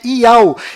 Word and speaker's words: Yahu: enviado do Criador, pois o nome do Criador é Yahu, e a última letra do seu nome tem som de H mudo, do qual não altera a pronúncia deste nome. E o seu filho, o